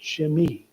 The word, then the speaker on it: Shimei: So I just listened to the other guy who pronounces these names, and he pronounced it Shimei. Okay, that's the Hebrew pronouncement.